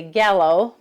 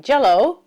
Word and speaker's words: Gällö: We just landed in a tiny Swedish town named I would say Gallow, but I'm told it's pronounced more like jello up in the Jampand